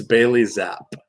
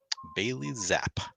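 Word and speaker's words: Bailey Zappe: to hear how how Google tells you it's pronounced is that what you're saying it's Bailey zap Bailey zap Bailey zap there you go there you go there you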